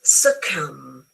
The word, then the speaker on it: succumb: So is succumb succumb don't pronounce the B and the same in lan.